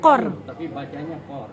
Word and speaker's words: Kaur: belakang Nama belakangnya apa Kaur Kaur Kaur dibacanya chord kord ertinya apa konsep Princess